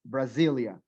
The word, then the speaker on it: Brasilia: But the capital city, Brasilia, remains with the S. Ahora, recuerda que la S también suena como Z, Brasilia.